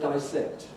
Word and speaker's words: dissect: this is interesting because the spelling certainly suggests descent and that's certainly why you mostly voted for this so it just shows how perversely native speakers can go against the spelling and this is a sound change that goes against the spelling so the people like me who say dissect are now becoming very old-fashioned now i said the